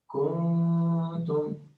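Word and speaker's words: كنتم: For example, if I select this one, here, the way I will pronounce it is kuntum, kuntum, okay? But some mistakes in recitation will tend to lengthen the vowel here instead of making the nun long. They will not say kuntum, they will say kuntum.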